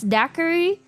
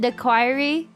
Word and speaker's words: daiquiri: She didn't know how to pronounce daiquiri. How did she say it? She said the quiry.